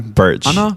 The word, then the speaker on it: Burch: yeah how do you say your name Burch Burch Burch common mispronounced as an approach yeah Burch Burch Burch